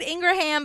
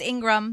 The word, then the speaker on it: Ingram: it and I'm sorry I said Ingraham because of the way it's spelled but it's Ingram sorry Lara um but yeah